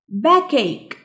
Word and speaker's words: backache: Backache. Backache. ال CH هنا بتتنطق ك عشان كده بنقول backache.